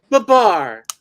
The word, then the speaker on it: Babar: And now all these Frenchies say Babar. Yes, Babar. It's Babar. That's how you pronounce it, Steppo.